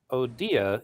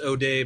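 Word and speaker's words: O'Dea: Colorado State Republican Party was represented well by Odia as the Senate candidate in the 2022 midterms in terms of values? Yeah, his name is pronounced O'Day, by the way.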